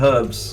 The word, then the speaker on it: herbs: But yeah, for stuff like that, we call it herbs because it's spelt with an H. You know, there's an H in it, so you say it.